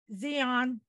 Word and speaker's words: Xeon: today so Michael V Morse is an Intel Xeon did I pronounce that correct yes thank you uh processor